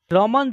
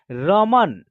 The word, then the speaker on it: रमन: उच्चारण हो रहा है न अक्षर में अ की साउंड का उच्चारण नहीं हो रहा है बल्कि न अक्षर का उच्चारण आधा हो जा रहा है देखिए रमन र म न ऐसे